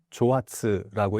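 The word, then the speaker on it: 蒸発: 그 일본에서는 조아츠라는 말이 있는데 증발이라는 그러한 뜻입니다. 그러니까 한자로 증발을 일본어로 읽으면 조아츠라고 읽는데 이게 갑자기 사라진다고 해서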